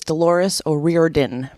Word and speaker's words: Dolores O'Riordan: Yeah, so her name is Dolores O'Riordan. Or O'Riordan for those who don't want to pronounce it properly.